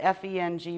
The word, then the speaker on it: Feng: The two words that it comes from, it's spelled F-E-N-G, but it's pronounced Feng, and it's wind, and Shui is water, which are two of the 5 main elements.